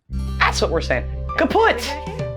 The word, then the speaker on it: kaputt: We spell it with 2 T's in Germany, but we pronounce it the same way, Kaput?